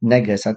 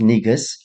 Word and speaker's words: negus: games uh I see I think I said neggars this is pronounced negus and then Congress B